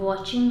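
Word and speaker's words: watching: को देख रही है अब वाचिंग मैंने बताया है कि अगर एच साथ में और उसके पहले टी आया हो तो वहा पर टी साइलेंट रहता है चाहे कैच हो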